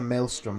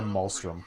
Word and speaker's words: maelstrom: into the mouse room it's a maelstrom not a Muslim why does he pronounce